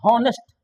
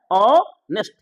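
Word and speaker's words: honest: अनेस्ट, तो एच हम लोग पढ़ देते हैं हॉनेस्ट, पढ़ते क्या है, हॉनेस्ट, जबकि होता है ऑनेस्ट, गौर कीजिएगा।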